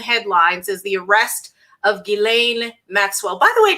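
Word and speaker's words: Ghislaine: Maxwell by the way did you know that that's how it's pronounced I had to look it up no idea I didn't know the S was silent I've been saying ledge is lying Maxwell like I have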